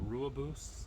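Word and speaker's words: Rooibos: find over here uh Rua boosts I think it's pronounced uh technically the tea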